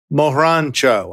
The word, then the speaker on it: Margaret Cho: lightning bugs my guest today is margaret cho mohrancho i think is how you pronounce it yes very good as a trail